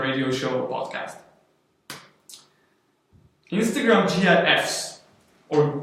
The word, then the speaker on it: GIF: Instagram GIFs or GIFs. GIFs. As I've learned today, that's how you pronounce it.